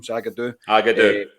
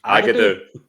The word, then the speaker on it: Zagadou: Agadou. That's a song. That's a song. I can't believe you walked into that there. I was like, there's no way the Z is silent.